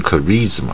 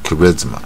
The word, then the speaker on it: charisma: 这个是短音带那个耳的音 charisma，不是 charisma 啊 charisma，所以这种